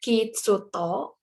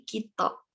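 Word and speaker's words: きっと: pertama sehingga menjadi kito Jadi bukan Kid soto tapi kito Bagaimana dan ini kalau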